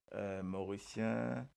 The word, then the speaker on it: Mauricien: Les autres connaît qui fait un Mauricien écrit comme ça. Euh, parce que quand nous prononçons Mauricien, nous prononçons Mauri et nous prononçons Sien, Mauricien, Mauricien.